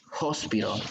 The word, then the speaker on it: hospital: No voy a decir eso, lo voy a escribir así, porque como dice ella, tiene un sonido como de J, hospital.